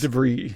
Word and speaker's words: De Vries: How do you pronounce his name? De Vries? De Vries, yeah.